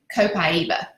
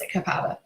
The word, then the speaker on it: copaiba: comes from Brazil and the natives there call it they pronounce it copaiba but most of us here pronounce a cappella y'all this one I